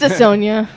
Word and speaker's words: Dissona: Morgan was pronouncing it wrong. It's Dissona.